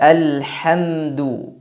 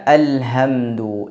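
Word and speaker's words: الحمد: Contohnya pada surah Al-Fatihah yang seharusnya dibaca Alhamdu, tapi dibaca Alhamdu. Ini maknanya jauh berbeda. Atau dibaca seperti huruf Kha, ada seraknya. Tidak tebal tapi ada seraknya. Semisal Alhamdu. Ini kekeliruan juga. Karena suara serak seperti itu adalah pada pengucapan huruf Kha. Adapun pada pengucapan huruf H tidak ada seraknya.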